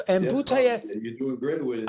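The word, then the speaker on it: Butaev: Butayev, and Yes, Butayev.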